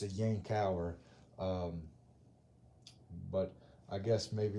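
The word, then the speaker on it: Yankauer: that i had from new jersey it's a yang tower but i guess maybe it's the southern roots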